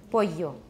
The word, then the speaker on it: pollo: Because in Latin America, at least in most places, they pronounce double L like a Y. Pollo.